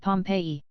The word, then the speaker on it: Pompeii: buried city of Pompeii they pronounce it Pompeii I always had an idea